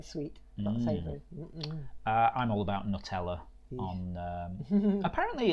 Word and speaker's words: Nutella: hoping it's something sweet uh I'm all about Nutella on um apparently it's not pronounced Nutella no way um yeah yeah yeah